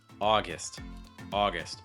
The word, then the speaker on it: August: Hard for two reasons. Let's start off with the end of the word, the gist sound. It's almost going to sound like a short I. It's going to get reduced. So it's not gust, it's more gist. And the first syllable, which you're stressing, is going to be your aw sound, like in law or saw.